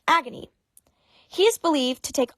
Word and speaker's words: Agni: demons next we have agony which is literally pronounced agony he is believed to